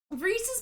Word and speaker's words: Reese's: with pcs and and it's reese's because it's the the company is named after reese it's about the flow of the words exactly reese's pieces doesn't fall off